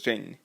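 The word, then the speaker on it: 仁: think so in english it's written as ren ren to the best of my chinese knowledge pronounced as jane so this word jain could be translated into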